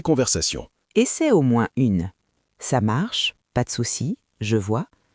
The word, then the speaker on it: ça marche: peux répondre simplement « ça marche ». Exactement. Et écoute bien la prononciation. Ça marche. Pas besoin d'appuyer sur chaque mot. Les Français le disent vite, naturellement.